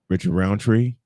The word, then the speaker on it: Roundtree: in power of Richard uh uh Richard um Round Tree uh did I pronounce his last name right Richard Roundtree yes Richard round the uh who is the